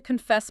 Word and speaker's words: confess: Remember, glide over the first part, hit the second part. I want to confess my feelings.